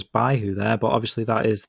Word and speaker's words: Baihu: The west is represented by someone called Byako, the Japanese pronunciation of white tiger, also pronounced Baihu in Chinese.